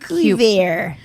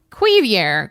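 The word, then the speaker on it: Cuivre: It's spelled c u i v r e. Ah, cuir. Cubier. Oier. Quier. Quier. Quier river state park in Troy, Missouri.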